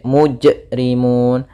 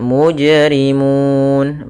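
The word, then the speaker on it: مجرمون: mujrimun ayyuhal mujrimun mujrimun Nah di sini huruf ada Qalqalah ya qalqalahnya hati-hati jangan sampai perenambahan Hamzah jangan sampai mujrimun atau dia berhenti misalkan mujrimun nah ini berarti akan tetapi dia mengalir saja qqolahnya mujrimun Kemudian pada lafal Mun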